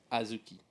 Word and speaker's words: azuki: Sometimes spelled with a D right after the A, Azuki. but it's Azuki.